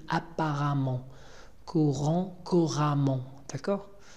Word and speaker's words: apparemment: Hein, attention à la prononciation, on dit apparemment.